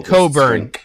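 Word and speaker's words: Cockburn's: weeks this is the coburn the coburn coburns special reserve port you you just used it very nicely this time of day it's said differently than it then it's spelled but that's okay and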